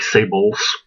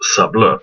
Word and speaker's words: Sables: Looks like Sables, like the fur, but is actually pronounced Sables.